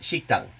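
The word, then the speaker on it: 식당: worth noting like shokudo exists in korean it's pronounced shikhtang but uh there are a fair number of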